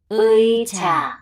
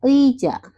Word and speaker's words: 의자: 의자, Oke. Dibaca 의자, 의리, 의미, 의지.